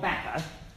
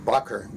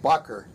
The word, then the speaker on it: Bakker: name it is pronounced bucer it is Dutch or Holland's okay okay no Bakker bakka closer closer these pommy bastards just can't get their bones come on did again Bakker it rhymes with Rucker that's what the New